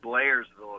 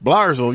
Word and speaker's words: Blairsville: uh a minute ago they pronounced it wrong it's not blairsville it's blair's fault blarzel you're right i know